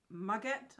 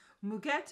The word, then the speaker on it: muguet: notes are ylang and muguet. I think it is muguet. I'm going to try and change it and say that it's actually French. Muguet. Maybe not, but that's what you're getting.